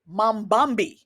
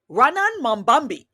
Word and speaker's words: Mamdani: Mamdani. Zohran Mamdani.